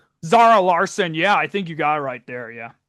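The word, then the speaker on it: Zara Larsson: And then they had, is it pronounced Zara Larson? Zara Larson.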